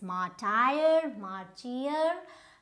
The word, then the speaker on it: martyr: Is this martyr? No, it is. So martyr, both of them are wrong. Martyr. So which means that there is very less stress on this word, martyr.